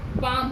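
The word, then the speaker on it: palm: जैसे यहाँ दिया हुआ है पाम, यहाँ यल क्या है, लेकिन लिखने का ढंग क्या हो जाएगा, उच्चारण लिखने में ऐसे लिखेंगे लेकिन उच्चारण में क्या हो जाएगा, ये पाम हो जाएगा।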